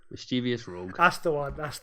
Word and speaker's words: Mischievous Rogue: How's it pronounced? Mischevious Rogue.